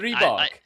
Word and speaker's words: Stribog: STRIBOG, because it is the name of like a supernatural creature in Slovakia. It's STRIBOG, very much STRIBOG. And I hate it because I said STRIBOG forever and I corrected people I've over again.